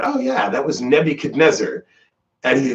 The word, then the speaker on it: Nebuchadnezzar: And I looked at him and I just said, oh yeah, that was Nebuchadnezzar. And he like stops and he's shocked and he goes, so that's how you pronounce it.